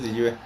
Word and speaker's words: Liyue: Que bueno, sí, en esencia es Liyue.